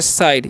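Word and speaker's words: side: हम लोग पढ़ते हैं साइड यहां पर इ का उच्चारण नहीं होता है आई का उच्चारण आई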